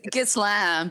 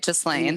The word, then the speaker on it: Ghislaine: I cannot pronounce it. Ghislaine. It's Ghislaine, but it sounds better to say Ghislaine.